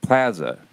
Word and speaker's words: Plaza: Plaza why as a but plazza is the I think the the middle ground like the a in Kansas right yeah if Kansas City